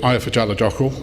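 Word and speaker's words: Eyjafjallajökull: was a volcano called ayafa jaladakal now there will be some scandinavians in the room who will know that isn't the right pronunciation but it's close and it was known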